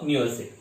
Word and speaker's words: university: Okay, so a university starting with a vowel but pronounced like a consonant.